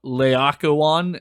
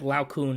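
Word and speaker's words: Laocoön: sure waitaka one yeah in my head it was like Lao Kun and I was like that's not it that doesn't feel like that doesn't sound Roman I I don't know any better but I know that it's wrong I think I could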